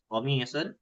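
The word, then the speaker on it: قميص: Karena kata gamis sendiri itu adalah qof yang diucapkan oleh lahjahnya sebagian Arab. Ya, kalau mungkin pernah kita mendengar qohwatun itu kopi. Tapi ada orang yang mengucapkannya dengan go ga gah wah gitu ya. Nah, itu artinya sama.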